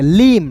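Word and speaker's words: limb: B silent होगा। लीम लीम नहीं पढ़ेंगे। लीम क्लियर है?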